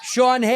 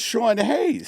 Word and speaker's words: Sean Hayes: When you're doing your sketches, cuz we would film, you know, Sean Hayes. Who the is Shawn Hayes?